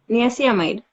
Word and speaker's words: niacinamide: Niacinamide.